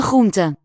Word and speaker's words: groente: one of the most fascinating questions about Dutch pronunciation to me is the many variants of the R phoneme. Here it's after the laryngeal ch, that real deep guttural one. De lange groente.